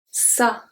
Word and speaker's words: ça: We have un garçon, garçon, un garçon, garçon, ça, ça, ça. So it's pronounced exactly the same as sa, which is his, her, its, ça.